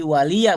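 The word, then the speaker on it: وَلِيَ: Jadi waliya bacanya. Waliya, waliya. Ya. Karena dibacanya cepat seakan-akan seperti sukun, kan gitu. Heeh. Iya. Tapi yang dibaca sukun sama yang dibaca li itu jelas beda.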